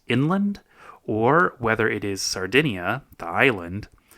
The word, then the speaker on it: Sardinia: I should maybe be pronouncing it sardinia instead of sardena and then it would be less confusing when people are listening to it too.